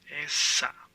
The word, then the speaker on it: esa: that house is that now remember that has a t in english that but in spanish it's that has no t so it's essa esta this has a